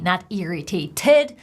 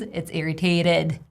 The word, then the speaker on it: irritated: irritated interesting thing irritated have you noticed how I pronounce it fast flap D not irritated but this T is placed in between two vowel sounds it's irritated irritated the next level of